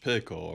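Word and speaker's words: pekoe: Mirror served a light meal of sandwiches, scones, and orange pico around 6:00 in the morning.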